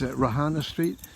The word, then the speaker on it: Reihana Street: i was only young so young and that's rohana street going down to okahu bay so the correct pronunciation is rohana street or rk alrighty and so i just wanted